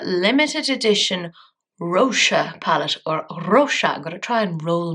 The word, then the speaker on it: Roxa: edition Roser palette or Roa going to try and roll my ores I had very stupidly been mispronouncing it as roxa and a lovely subscriber did tell me that it's Portuguese so I'm hoping I